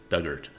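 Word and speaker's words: Dugort: Doug Ort. Oh, Ort rhymes with hurt. Duggart.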